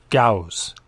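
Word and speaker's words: Gose: Gauss? Gowz. Gowz. Think of enunciating it like Gowz.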